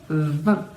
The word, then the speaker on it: vingt: Normalmente, a gente pronuncia van, não se pronuncia nem o G nem o T. Mas aqui, como a gente vai ter uma sílaba nova, vamos ter que pronunciá-la. Então, vai ser vingtième, vingtième.